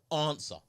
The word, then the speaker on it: answer: Uh, answer. Yeah. The with the W, the W throws me off.